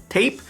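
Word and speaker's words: TAIP: used right recently right is a tape it's spelled as t-8ip on capitals from baby audio it's got several ways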